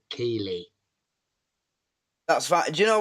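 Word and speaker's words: Keighley: And the news report was, the reporter on the news was like from London or down south, and he called it Keeley.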